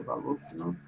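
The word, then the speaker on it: Волошинов: Aqui está escrito Voloshinov em português, em russo se pronuncia Voloshinov, né?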